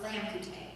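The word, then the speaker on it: लामखुट्टे: Like in Nepali, the word mosquito is pronounced lamkute.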